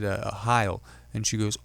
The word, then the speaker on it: Sohile: I said, Heil. And she goes, oh, Heil. Like Heil Hitler. And I just said, unfortunately, that is correct. That's exactly how it's pronounced there.